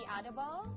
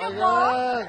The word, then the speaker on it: adobo: I actually tried the adobo. Did I pronounce correctly?